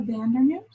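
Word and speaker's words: van Dernoot: I always say her name wrong. So it is Laura Vandernoot.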